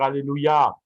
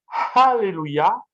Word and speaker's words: alléluia: cours d'hébreu les rapides il vaut mieux dire alléluia que alléluia alléluia c'est la véritable prononciation parce qu'il y a